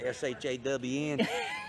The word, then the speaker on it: Sean: then there's the Shawn, S-H-A-W-N. How you spell it S-E-A-N when it's Shawn?